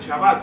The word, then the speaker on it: Shabbat: significa Día de Saturno y la pronunciación correcta es el shabat porque shabat significa descanso